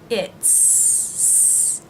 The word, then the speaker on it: it's: Now the apostrophe S for the word is in these three contractions is pronounced as a Z sound for he and she, and as an S sound for its. He's, Z sound, she's, Z sound, it's, S sound.